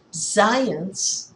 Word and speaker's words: Zajonc: Science, pronounced to rhyme with science, but not spelled that way, as you can see,